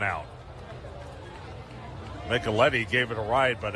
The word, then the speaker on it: Micheletti: We were calling him Micheletti all night Thursday, but Micheletti kind of rhymes with Eddie.